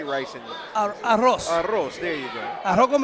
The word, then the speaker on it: arroz: Arroz, there you go.